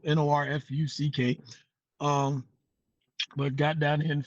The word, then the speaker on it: Norfolk: Graduated high school in New York, came down to Virginia, Norfolk, Virginia, got down here and found out it was pronounced Norfolk, Norfuck.